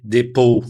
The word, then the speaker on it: depot: Então, no comércio exterior e na logística internacional, a palavra depote, a pronúncia certa é depot ou depot, significa terminal de containers vazios ou pátio de vazios, tá?